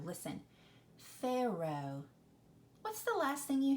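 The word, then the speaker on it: Pharaoh: the Oh isn't it do you hear that H on the end is it fair oh uh no you do not hear that H it is silent there are some words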